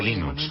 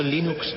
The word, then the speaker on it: Linux: Bueno, yo Linux lo pronuncio Linux. Sin embargo, si fuese Linus Torvalds, no hay duda de que lo pronunciaría Linux.